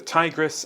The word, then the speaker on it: Tigris: A boat glides through reeds where the Tigris and the Euphrates slow into open marsh. So the river names are the Tigris and the Euphrates. That's how you pronounce them.